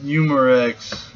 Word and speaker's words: Umarex: Oh, it's pronounced Umarex.